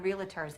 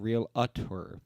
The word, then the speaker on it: Realtor: promise you that we are the best damn realtors in town they're actually the only realtors in town because the rest of us pronounce it Realtors yeah it's Realtors that's what